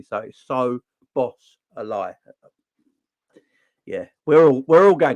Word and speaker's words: Szoboszlai: uh getting Dominic's obaseline to say his name correctly so so boss a lie yeah we're we're all